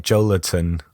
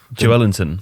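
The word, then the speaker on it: Joelinton: really quite unusual funnily enough some someone like Joe Latin or you know how to pronounce it better than I do Joe Ellington Joe Ellington yeah I mean I know that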